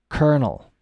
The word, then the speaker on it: colonel: means discover um and the pronunciation I will tell you right now is Kernel kernel like a k-e-r-n-a-l uh let me put it in c-o-l o n colonel okay kernel Coronel